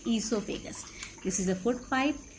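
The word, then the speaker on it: oesophagus: Yes, this is food pipe, also known as esophagus, where O is silent. We say esophagus.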